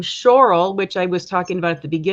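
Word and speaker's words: Zschorlau: forgive my pronunciation I'll I'll spell it Zs c h o r l Au U so it's kind of like shorl and this is also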